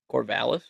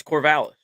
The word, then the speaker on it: Corvallis: How do you pronounce where Oregon State's located at? Corvallis. You're wrong. No. Yeah, it's Corvallis. They got it sounded out right here. It's Corvallis.